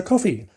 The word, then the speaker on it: Ko-fi: to buy us a coffee, surprisingly enough. And there's a website that we use, which is linked through our webpage called Ko-fi, or Coffee, it's pronounced.